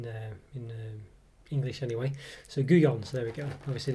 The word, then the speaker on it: Gullón: i said it's not gullon it wasn't anything it could be wrong but it's a spanish company so the double l is pronounced like a y in there in english anyway so goo gone so there we go